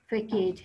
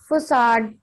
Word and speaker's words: facade: लेते हैं तो ये फेकेज है. इसका pronunciation ma'am it's फसाड. जी it's pronunciation is फसाड.